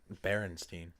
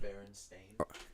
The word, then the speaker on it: Berenstain: So you see how it's spelled like Bearstain. Berenstain. So more like Berenstain.